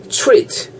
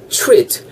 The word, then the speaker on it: treat: 쉽게 우리식으로 추 정도 발음하다 생각하시면 될 거서 treat 이렇게 발음하시면 될 따보세요 treat 트가 아니고 treat 왜어 treat 그러잖아요 마 스펠링